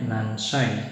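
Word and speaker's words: 何歳: nomor tujuh ada Wa ini bacanya nan ya nansai nansai itu nansai atau ikutsu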